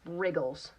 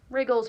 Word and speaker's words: wriggles: in the word right we have a WR and the W is silent same thing with this